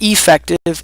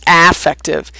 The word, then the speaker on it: affective: Remember that word and how it's pronounced. It's not affective, it's not effective, it's affective.